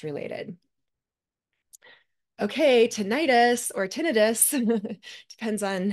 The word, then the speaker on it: tinnitus: Okay, tinnitus or tinnitus, depends on how you say it.